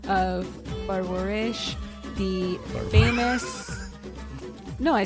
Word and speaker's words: Parwarish: And today we are covering episodes 4 through 6 of Parwarish, the famous... No, I said it right? Parwarish.